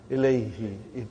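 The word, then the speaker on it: إليه: Now pronounce, ilayhi. You can pronounce with ease, you know.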